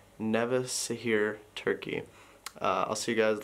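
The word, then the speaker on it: Nevşehir: or good morning from nevishir no he told me yesterday i was saying it wrong nevisa here turkey i'll see you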